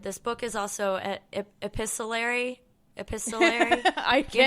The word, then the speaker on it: epistolary: Epistolary is how you say it. Yeah, you weren't uh totally off with what' you say? Epistol. Epistolary. Episttolary. Yeah. I was just making the tea silent like an apostle.